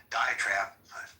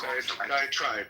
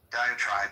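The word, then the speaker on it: diatribe: Um and by the way, the more I think about Dioenesis diet trade, um diet trap, how do I pronounce that one? Diet tribe. Tribe. Diet tribe.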